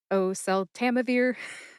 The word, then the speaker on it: oseltamivir: So, instead of Oh, Susanna, it's oseltamivir. Oseltamivir, don't you cry for me.